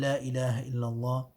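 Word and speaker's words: لا إله إلا الله: La ilaha illallah. La ilaha illallah. Remember the ha at the end. Ha should be pronounced.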